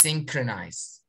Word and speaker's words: synchronized: the same time now how many syllables are there same five five no you said it true sin then what crow trolls very good the stressed syllable is sin and in order to say it's synchronized great thank you very